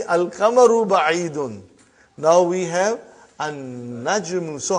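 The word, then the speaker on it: النجم: Now we have an-najmu. So how will you pronounce, brother?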